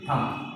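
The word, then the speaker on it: thumb: Last देखिए थम। हम तो सब जानते हैं, मुझे बोलते हैं थम, थम नहीं होता थम, यहाँ बी साइलेंट रहता है।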